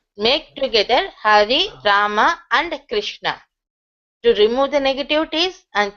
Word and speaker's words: Krishna: So, though we are used to write the KRA SHNA, but the correct pronunciation is like KRU, the Vatrasudi, Rukara. The vowel Rukara should be there, so it is Krishna, Krishna.